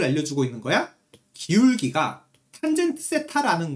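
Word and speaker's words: θ: 그때 양의 방향과 이루는 각도를 세타, 요거 세타라고 읽는 거야.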